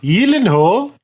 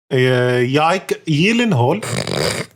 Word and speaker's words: Gyllenhaal: So we have Jack Gyllenhaal inside for some reason. No, there's a Division film starting. Oh, Jack, okay. His name is actually pronounced Gyllenhaal. Yike Gyllenhaal.